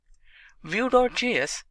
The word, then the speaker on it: Vue.js: angular which is a complete web application solution view.js is commonly referred to as view and pronounced as vue.js or vue is rightly so